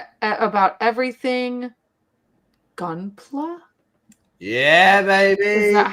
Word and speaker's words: Gunpla: But this it says about everything Gunpla.